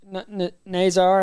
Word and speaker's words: Nazar: Nazar has done. That's how you pronounce it.